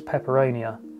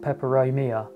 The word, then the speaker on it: peperomia: Yeah, this is peperonia. Is that how it's spelled? Peperomia, not peperonia. That's something else.